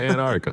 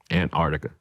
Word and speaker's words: Antarctica: I heard him say that we go to Antartica did you say the N word dude at the end of it he did set Antarctica am I saying it right I you slip